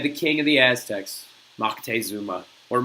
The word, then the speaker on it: Moctezuma: So, in an effort to try and turn him away, you had the king of the Aztecs, Moctezuma, or Montezuma, or whatever the heck the other third pronunciation is.